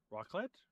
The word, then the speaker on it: raclette: Raclette? Raclette. Raclette. Raclette. Raclette. Raclette. Okay, it's pronounced raclette, but basically it's broiled cheese on potatoes and bread.